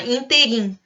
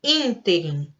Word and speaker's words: ínterim: Interim, mas não é. Ela é uma proparoxítona. Interim.